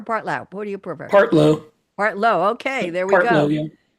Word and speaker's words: Partlow: Now, Rick, am I pronouncing it right? Partlow or Partlow? What do you prefer? Partlow.